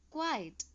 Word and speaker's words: quiet: The pronunciation is quiet.